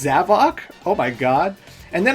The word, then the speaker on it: Zavok: But in Sonic Forces, Sonic saw Zavik, and he said, Zavok? And I was like, whoa, Zavok? What? His name is pronounced Zavok?